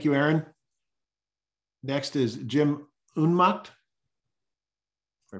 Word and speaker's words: Unmacht: Next is Jim Unmacht. If I pronounce that right, Jim. You're close. Can you hear me? Yes, can hear you, Jim. Go ahead. My name is Jim Unmacht, J-I-M-U-N-M-A-C-H-T.